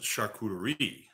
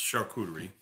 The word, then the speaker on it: charcuterie: the umbrella hog charcuterie some people pronounce it charcuterie right but it's charcuterie and these processes are processes